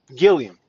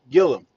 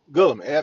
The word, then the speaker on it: Gillum: Gilliam. Gillum. Gillum. There we go. Steph just said it right when I thought about it.